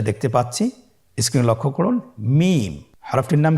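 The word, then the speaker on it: ميم: মিম। হরফটির নাম কি? মিম। মিম হরফটি উচ্চারণের ক্ষেত্রে অবশ্যই বারিক হবে, পাতলা হবে এবং তিন আলিফ টেনে উচ্চারণ করতে হবে। আমার সাথে আরেকবার চেষ্টা করুন। মিম আবার বলুন মিম হরফটির উচ্চারণ স্থান দুই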